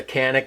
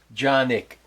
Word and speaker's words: Canik: way people say it I'll probably refer to as a canic because that's what everybody else says but that is how you pronounce this handgun's name John niik johi hope that helps okay